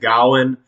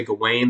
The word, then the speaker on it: Gawain: goblin does it go wayne i've always said gowan uh that's how i learned it back when i was in college uh if i'm saying it wrong i don't really care because i'm not going to say gawain that makes me think like gawain's world and